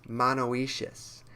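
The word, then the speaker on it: monoecious: grows in Southeast Asian forests it's classified as monoacious and that's spelled m-o-n-o-e-c-i-o-u-s and if we look at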